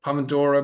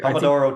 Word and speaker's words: Pomodoro: say you know typically am I saying it right the pomodora method is it I think I think you Pomodoro Technique yeah yeah it's a Pomodoro Technique I you you taught